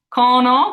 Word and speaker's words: cono: Cono, which means cone once again, cono. C followed by an O, makes it that hard K.